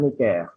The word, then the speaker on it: Necker: Bacanya Jacques Necker.